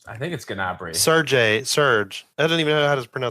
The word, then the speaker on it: Gnabry: Is the G silent? Gnabry? I've heard it both ways. I think it's Gnabry.